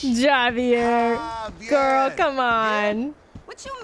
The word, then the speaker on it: Javier: don't get it it's Javier it's pronounced like an H Javier girl come on what